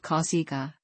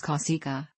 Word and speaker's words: Cossiga: although he was commonly called kausika the original pronunciation of the surname is Kousaka his surname in Sardinia and Sasser Reis means